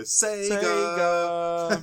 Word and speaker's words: Sega: My Age Again now do you not instantly hear Sega right that's how Sega should be pronounced never no one should